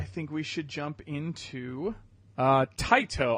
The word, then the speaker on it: Taito: we should jump into tight oh I believe tight oh is how you pronounce it we will talk about